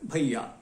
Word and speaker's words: भैया: स्पष्ट है कि अगर आई स्वर के बाद य अर्ध स्वर है, अंतस्थ है, तो उसका उच्चारण अ ई दो स्वरों के मिले हुए रूप सा हो जाता है। भैया लिखा जाता है दो मात्राओं के साथ और पढ़ा जाता है भ ई या मिलकर भैया।